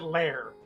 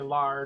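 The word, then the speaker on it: Lahr: last name they were they pronounced it Lair so I probably should have always said to you but I sometimes say lar just because I can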